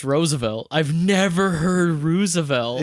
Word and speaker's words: Roosevelt: Roosevelt a racist man Rosevelt what is he Roosevelt Roosevelt two o's like moose it's pronounced Roosevelt I've never heard Rosevelt